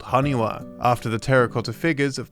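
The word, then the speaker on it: 埴輪: This could be a bit of fun Japanese wordplay, as in Japanese, 828 can be pronounced haniwa, as the number 8 can sometimes be read as ha or wa.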